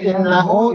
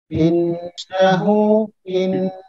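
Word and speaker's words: إِنَّهُ: Ya, kemudian ada innahu itu gunnah. Innahu nunnya ditahan karena gunnah. Innahu.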